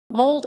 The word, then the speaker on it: Molde: women mold fossil club women pronounced mold at listen is the women's team